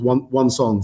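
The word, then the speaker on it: Wang Cong: It's not spelled like that. It's W-A-N-G and then C-O-N-G. But yeah, still one song.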